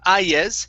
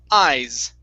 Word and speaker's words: eyes: All right, now this word here, instead of ayes, this is eyes.